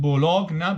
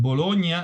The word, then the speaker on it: Bologna: Please remember that Bologna, well, I'm using the Italian pronunciation, it's not Bologna, but Bologna in Italy, 1945.